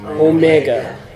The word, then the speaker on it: Omega: And then omega. Omega. Omega as in mega. Big. Big O. Long O.